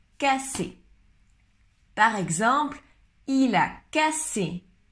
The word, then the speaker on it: casser: Cacher, cacher, esconder, et casser, casser, j'empêche. Cacher, le premier, cacher, c'est le son ch, cacher, et le deuxième, casser, comme un S en espagnol, casser.